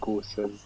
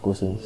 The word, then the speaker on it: Gosens: Like the role that like is that how pronounce his name, like Gosen. Oh yeah, Gosens.